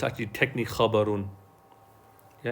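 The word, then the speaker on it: خَبَرٌ: Or actually, we say khabar, but it's actually technically khabarun. Yeah, it's khabarun. We say khabar, but it's actually technically the way you pronounce it, if you look in the book, is khabarun.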